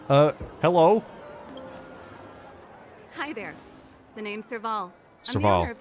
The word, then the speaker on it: Serval: The name's Serval. Serval. I'm the owner of this workshop. Sorry, I've been mispronouncing your name.